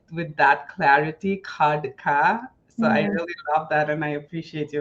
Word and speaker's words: Khadka: I loved how you said my last name, Kodka.